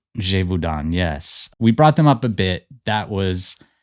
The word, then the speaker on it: Gévaudan: Gévaudan. Gévaudan, yes.